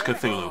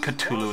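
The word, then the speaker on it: Cthulhu: lives in here and it's cthulu for those people who can't pronounce it's not cthulu it's not cthu or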